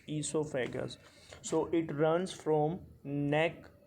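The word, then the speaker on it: oesophagus: is known as esophagus o is silent here so it's esophagus esophagus so it runs from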